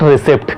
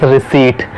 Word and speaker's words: receipt: It is not receipt. Correct pronunciation is receipt.